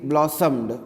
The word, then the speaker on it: blossomed: m e d blossomed so you have to skip o while you speak blossomed o is silent for the second time it comes blossomed next is impatient i